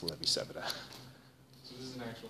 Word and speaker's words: Levi-Civita: Or Levi-Civita is what I learned to say before I was corrected. Different pronunciation for the same letters.